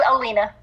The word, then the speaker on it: Alena: It's Alena. Thank you. So I got her name wrong.